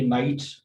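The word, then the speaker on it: knight: इसी तरह से के नाइट पहलवान को कहा जाता है और इसी तरह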